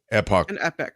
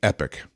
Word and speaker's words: epoch: Age would be in Epoch of um I'd say epoch uh Kim would say epic um this is the